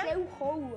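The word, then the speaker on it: 放学后: Fan Xiao Hou. Para mí, Fan Xiao Hou. Puede ser. A ver, producción, ¿cómo se pronuncia? Fan Xiao Hou.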